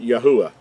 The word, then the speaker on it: Yahuah: name is accurately pronounced yahuwah the third letter gives us the the ooh sound and not the wah or the VA sound as in modern Hebrew we've already talked about